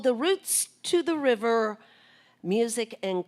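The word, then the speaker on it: Routes: And when I say roots, it's spelled like route, R-O-U-T-E-S, but pronounced roots.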